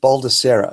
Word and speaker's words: Baldissera: name i pronounce it balda Sarah it's an Italian name actually but you can call